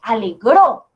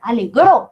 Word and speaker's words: alegró: Alegró. Entonces esto como que es al final. Alegró. Sí. El golpe de voz va en la última sílaba.